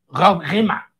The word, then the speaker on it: Rob Riemen: Hay un autor holandés que se llama Rob Riemen, pero le dice Rob Rima.